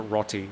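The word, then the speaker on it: roti: Uh, we used to spell it R O T I and we called it Rotty. Rotty bread.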